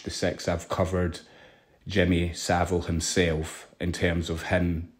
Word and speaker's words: Savile: there because in truth, as I pronounce his name, it's Jimmy Savile, as in Savile. He's a very vile man.